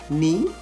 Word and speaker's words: knee: p-a-r-l-i-a-m-e-n-t silent k words such as nak k-n-a-c-k knee k-n-e-e knife k-n-i-f-e knowledge k-n-o-w k-n-o-w-l-e-d-g-e and nob